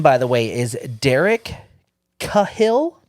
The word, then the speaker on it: Cahill: the way is Derek Cahill c a h i l l Cahill I mean is that how you would pronounce that Derek unor Cahill kahill kahill shout out to that that